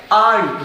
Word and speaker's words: ain't: Are note को अगर contraction में ले जाते हैं, सो वी can make this word and इसको प्रोनाउंस करते हैं आंट, राइट?